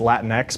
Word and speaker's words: Latinx: dissonance and gorilla translation I was recently yelled at on Twitter for saying latinx apparently it's Latin ex but when it's a made-up word I don't think you can pronounce it wrong probably not but this